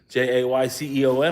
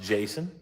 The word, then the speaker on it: Jayceon: Jayceon. I imagine it's pronounced Jason.